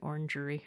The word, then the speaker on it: orangery: It's nice to hear orangery instead of orange grove, but you're actually not saving any syllables when you say orangery. Orangery. I didn't say it that way. That's actually more syllables than orange grove.